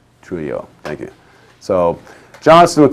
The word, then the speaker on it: Trujillo: assassinations of DM, and I think it's Trujillo is how it's pronounced. Trujillo, thank you.